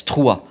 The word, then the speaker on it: Struer: It's Struer.